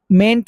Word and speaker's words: mayn't: Like we may leave now, mayn't we or may not we. Mayn't should be pronounced exactly like paint.